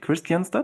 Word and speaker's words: Kristianstad: Is it pronounced right? Kristianstad?